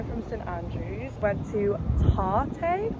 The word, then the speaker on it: Tarte: Went to Tarte, I believe it's pronounced latte with a T.